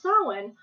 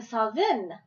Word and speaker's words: Samhain: Sam ha s m h a i n pronounced sin or even sain if you're uh have a actually Celtic s